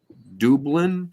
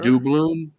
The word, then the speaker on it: doubloon: Dublin, is that how you pronounce that? I'm not A sure. doubloon? Oh, doubloon. Yeah, doubloon coin.